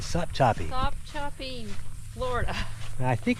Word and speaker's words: Sopchoppy: That's right, Sopchoppy. Sopchoppy, Florida. I think it's pronounced Ochlockonee.